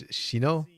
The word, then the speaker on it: Shino: So, like, somebody I've been calling Zino the entire time. Turns out it's Shino. So, apologies if I abuse people's name and I get it wrong.